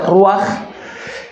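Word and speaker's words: רוח: De hecho, la palabra espíritu en hebreo se se pronuncia ruaj y esa palabra en hebreo se complementa con Elohim, ruaj Elohim que es el espíritu de Dios.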